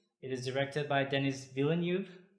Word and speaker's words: Villeneuve: it is directed by Dennis Villeneuve and is that correct a villain you or Villeneuve how would you pronounce his last name vilnov maybe enough then is V and it starts